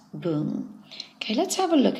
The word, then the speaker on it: 聞: word shinung or newspaper we're going to be using its Chinese pronunciation and that's boom okay let's have a